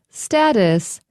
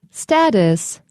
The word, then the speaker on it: status: Number 4, status. Status. Or it also can be pronounced status.